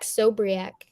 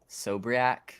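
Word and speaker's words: Sobiech: I don't know how to pronounce the dude's last name, but how do you say it, Casey? It's Zach Sobriak. Sobriak.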